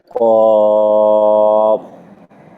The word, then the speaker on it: قاف: قاف মাশা قاف মাশাআল্লাহ মাশাআল্লাহ।